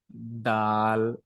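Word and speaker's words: دال: এটাকে বলা হয় দাল এটাকে একটু নরম করে জিহ্বাটাকে একদম মানুষের সাথে লাগিয়ে এটাকে আমরা উচ্চারণ করব যেমন দাল দাল এখানে রয়েছে কি চার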